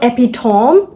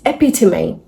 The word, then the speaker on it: epitome: So, this is not epitom. It's epitome.